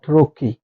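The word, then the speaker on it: wrong: ডব্লিউ এর পরে আর ডব্লিউ এর পরে আর যদি থাকে সেক্ষেত্রে ডব্লিউ সাইলেন্ট থাকে ডব্লিউ এর পরে আর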